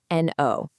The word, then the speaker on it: know: Simple enough, but it's also the sound for no, k n o w, like when you know something. And the whole secret is that silent k at the beginning. You don't say it, but just seeing it